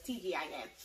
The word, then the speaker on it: TGIN: finally said it right i kept calling it tv in the last time but it's tg i am this is my deep